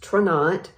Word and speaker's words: Tranont: never even heard of traunate it's t-r-a-n-o-n-t it's pronounced trinat it is a health and wellness company based